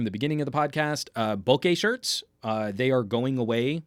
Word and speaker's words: bokeh: Steve DeRoche, bokeh is not pronounced bokeh, but bokeh almost kind of rhymes with porque.